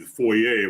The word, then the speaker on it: foyer: I guess the French pronunciation would be the foyer, would be the proper way of saying it.